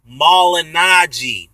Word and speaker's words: Malignaggi: It's pronounced Malignaggi, not Malignaggi, Malignaggi.